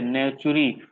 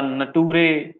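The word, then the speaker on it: Naturae: अब ये जो बुक है सिस्टमा नेचुरी है, नेचुरी, इसको कोई भी बच्चा नटूरे, नेचर ऐसा नहीं बुलाएगा, नटूरी नहीं बुलाएगा, समझे कि नहीं?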